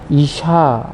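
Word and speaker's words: אשה: 여자라 부르리라 하니라 남자와 여자를 히브리어로 보았을 때 발음이 매우 유사합니다 남자는 2시 이라고 하구요 여자는 이샤 라고 하는데요 즉 워너 적으로도 남자 라는 단어에서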